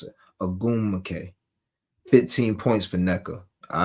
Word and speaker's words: Ogwumike: I say it like that because I'll be trying to not mispronounce it. Ogwumike.